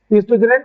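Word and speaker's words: oestrogen: Ovaries make to female sex hormones called ईस्ट्रोजन and progesterone, है ना, जो बनाता है ओ शायद साइलेंट है यहाँ पे, ठीक है, ईस्ट्रोजन एंड प्रोजेस्टेरोन।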